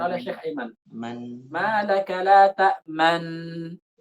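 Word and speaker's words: تأمنا: Harus diidghamkan dulu. Ta'man. Setelah diidghamkan sebentar, maka dimajukan bibirnya. Malaka la ta'man. Nah, seperti itu. Idghamkan dulu. Ta'man. Jangan langsung. Jangan ta'man. Jangan. Tapi idghamkan sebentar. Ta'man. Baru dimajukan.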